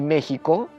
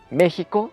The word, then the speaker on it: México: gramatical y arbitrariamente dijeron méxico no va a ser con jota se escribe con x antes aunque suene con jota y se quedó escribiendo